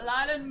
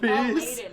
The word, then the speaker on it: laden: Uh, Kum said, "Ladden me my piece." Lighten my piece. Laden, not Ladden.